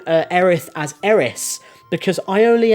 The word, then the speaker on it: Aerith: So I always called her Eris, but her name is Aerith, and it is confirmed in the remake, which I've also played,